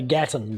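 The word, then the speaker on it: Gatton: queensland's Gap Gaton campus is it Gaton or how do you say that right we say Gatten but it doesn't really matter Gatten that's that's even better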